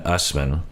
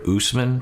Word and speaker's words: Usman: they have angela and usman uh sean is pronouncing it usman and i feel like we've heard usman before i guess i'll go with usman because i trust sean and uh we